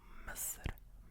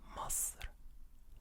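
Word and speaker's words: مصر: And in Egypt, like, they also say it differently a little bit. In Egypt, they say Masr, Masr, Masr, Masr. So Misr is the modern standard Arabic way of saying the country name, Misr. But in Egypt, in their dialect, it's Masr.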